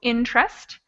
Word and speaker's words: interest: are really irregular but other words like interest is spelled interest but it's only pronounced with two interest and the word comfort